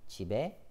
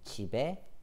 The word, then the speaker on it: 집에: 나는 집에 갈 거예요. 나는 집에 갈 거예요. 나는 집에 갈 거예요. So when you read 집에, 집에, ending sound is b, b. It goes here.